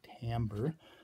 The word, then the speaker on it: timbre: definition for the word timbre, which very unhelpfully is spelled with an I instead of an A, timbre, is more or less the sonorous or sonorous quality of a note excluding pitch and intensity.